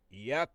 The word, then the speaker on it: Yahweh: So the only name that we can call on, my people, is the four letters YHWH, which we pronounce Yahweh.